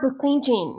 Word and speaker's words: decision: How do you pronounce it? Decision. There's not a J in it though. No, there is not in decision.